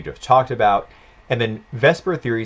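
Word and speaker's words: VSEPR: vesper or technically it's valence shell electron pair repulsion but we pronounce it vesper this theory is used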